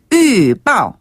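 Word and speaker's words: 预报: 한자 그대로 중국식으로 발음하면 위빠 위빠 한번 더 위빠 위빠 아 이게 위이 발음까지 안나 안 나가나요 위 입술이 입술이 위스키 할 때 위자 상태에서 멈춰요 그리고을을을을 빠 빠오 빠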